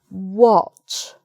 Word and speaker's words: what: But then we have what. So it's o again.